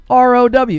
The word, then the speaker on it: row: You just put r o w. Exchange pleasantries. Throw hands. Yeah, it's row like cow.